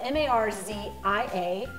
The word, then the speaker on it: Marzia: Her name is spelled M-A-R-Z-I-A, pronounced Marzia. It's Italian.